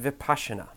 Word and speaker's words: Vipassana: vocabulary lesson is for the Vipassana article it's pronounced Vipassana let's start with the word kidneys in the